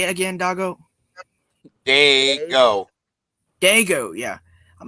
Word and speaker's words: Dago: No, I said now I know who's talking and calling you doggo. Yeah, he keeps doing it, but it's whatever, man. That's how he pronounces it.